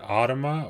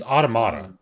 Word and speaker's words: Automata: like 2B and everything how do you say that is it otoma or is it aut it's automata automata near near automata near automata near Auto yeah because it's mat at the end automata automata near automata no